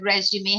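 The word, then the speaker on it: résumé: my resume for perusal note that resume has two accents without the accent it is pronounced resume and it's a different meaning altogether in the sentence I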